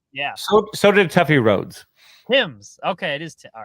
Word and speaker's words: Thames: Tim's. Okay, it is. All right. Thames.